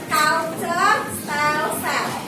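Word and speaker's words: Cultuurstelsel: Nah, sistem tanam paksa disebut juga kultur style-style, culture style-style. Namanya ya bacanya. Tulisannya kultur style-style.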